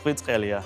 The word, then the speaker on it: Kvaratskhelia: I actually don't know how his full name goes, but I think it's Kvaratskhelia.